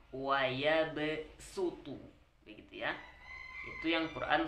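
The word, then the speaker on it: وَيَبْسُطُ: Nah, pada Quran surat Al-Baqarah 245 ini dibaca ke sin, gitu ya. Jadi bacanya sin wa yabsutu, begitu ya.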